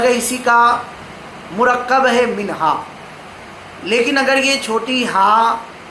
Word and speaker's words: منہا: یہ سوال کیا کہ منہا بچی کا نام رکھنا کیسا ہے۔ پہلے تو اس کا تلفظ دیکھ لیں، منہا، من الگ اور ہا۔ من معنی ہوتا ہے